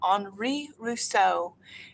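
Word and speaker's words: Henri Rousseau: going to be learning a little bit about anri rousseau you may look at his name and you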